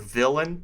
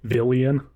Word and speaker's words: villain: Also, I mess up the word villain, and that's actually going to come up technically in what we're about to talk about every time I spell it. I want to put the I before the A every time. Villian. Villian. It sounds more evil.